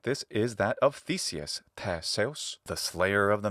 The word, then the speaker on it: Theseus: Theseus, classical Attic pronunciation, Theseus, modern Greek pronunciation of the same name, and Theseus in classical Latin pronunciation.